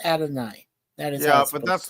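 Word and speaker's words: Adonais: Yeah, isn't it like Adonis or? No. It's in Greek. It's pronounced Adonai.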